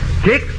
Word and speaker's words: Kix: foods remember how the flavor of kicks has won america and look for that seal of acceptance of the council on food cakes is spelled k-i-x another tool made famous